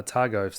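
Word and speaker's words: Otago: dropped the most and then areas like uh Atago, that's how you pronounce it, these more rural areas where people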